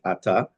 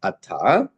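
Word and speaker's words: אתה: Without going to the background as to why, this word is not pronounced ata, but it's ki'el shemea tfilot v'tachanunim ata. It's called mila'el. For the accents on the first syllable. Generally, we say ata, ata rotzeh, ata olech.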